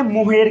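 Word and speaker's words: mohair: मोहेर मोहेर, इसको पहले पढ़िए मोहेयर, मोहेयर ऐसे पढ़ के स्पेलिंग याद कीजिए, मोहेयर। और इसको हम लोग पढ़ते हैं मोहेर, मोहेर, मोहेर, क्या पढ़ते हैं मोहेर।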